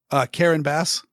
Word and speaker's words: Karen Bass: Karen Bass. Are you sure that's how it's pronounced?